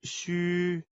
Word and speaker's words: 虚: of Chinese phonetic alphabet, the letter X is pronounced as sh in the English word she. U is pronounced as wu in the word wood, but ending with a prolonged I, as in it.